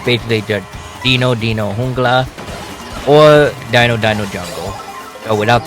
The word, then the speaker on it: Jungla: But it's basically just Dino Jungla or Dino Jungle. So without the E at the end, you pronounce it with the A instead of the E.